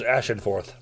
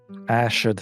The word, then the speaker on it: Ashenforth: Copper is Ashenforth. Ashford. I'm sorry, Ashenforth? Ashenforth. Oh, A-S-H-E-N-F-O-R-T-H? Yep.